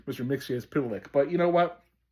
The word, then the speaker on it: Mxyzptlk: Mixia is Pitilik.